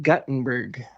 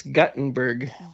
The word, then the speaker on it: Guttenberg: and we were uh named after the inventor of the printing press, but it's pronounced Guttenberg.